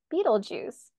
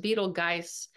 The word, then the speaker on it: Betelgeuse: conjunct the fix star Beetle Juice not to be confused with the Beetlejuice movie but I wonder if that's where they got it from yeah and Eno says he thinks it's pronounced beetle guys but I like Beetle